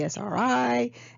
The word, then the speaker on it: Esri: a local company called esri esri esri is how they say it it's in wetlands they